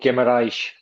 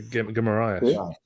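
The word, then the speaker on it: Guimarães: A Brazilian stepmom actually explained me how to properly say Bruno's name. Yeah, I know that. You pronounce it the same as I do. The Guimaraes. Yeah. Guimaraes.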